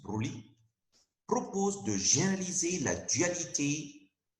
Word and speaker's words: Broglie: En 1924, Louis de Broglie, s'écrit Broglie, se prononce Broglie, propose de généraliser la dualité pour la lumière à toutes les particules microscopiques, électrons, protons, neutrons.